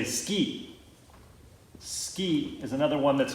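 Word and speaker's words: 好き: I'm going to say ski. Ski is another one that's going to be a little bit funky in the pronunciation. Instead of suki, it's ski. Think of like water ski or snow ski.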